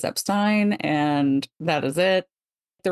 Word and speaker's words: Epstein: that verified again that people would say Epstein in his presence that is how he wanted it pronounced because he didn't correct them and Brian would have corrected them so yes it is Epstein and that is it